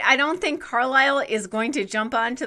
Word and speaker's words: Carlisle: a weird thing about the name carlisle i don't like the way it looks because of the s yes exactly it has a silent s in there so sorry silence i'm